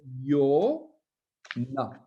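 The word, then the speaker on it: יונה: Et le Vav se prononce Yo, O. Le Nun se prononce Ne. Et le He final se prononce A. Enfin, il se prononce, non, il est muet, mais en fait, il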